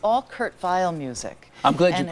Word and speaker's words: Kurt Weill: when he was in when he was German when he lived in Germany it was Kurt vile when he came to America he wanted it pronounced Kurt Weill but um anyway yeah